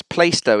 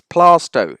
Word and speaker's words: Plaistow: Place in East London, Plaistow. Number of times I hear on the travel reports, Plaistow in East London. It's Plaistow. It just is.